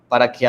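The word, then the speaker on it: καί: unidos por la conjunción copulativa esta conjunción copulativa que se escribe cae pero se pronuncia que se cual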